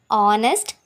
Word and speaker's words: honest: that the words are honest begin with your B sound as the initial consonant H is not pronounced honest next before a